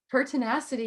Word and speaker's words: pertinacity: tenacity is that am I saying it right pertinacity yes yes perfect tell us a little bit